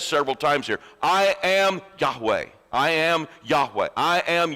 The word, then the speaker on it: Yahweh: This real name, pronounced Yahweh. I'm sure I'm not saying that exactly right. I think you have to a little bit of a guttural sound at the beginning. Yahweh, something like that.